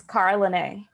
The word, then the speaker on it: Carolane: Carolane, is that right? It's Carolane.